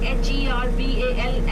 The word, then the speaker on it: herbal: Like for example, since we study British English in our school, we say H-E-R-B-A-L as herbal.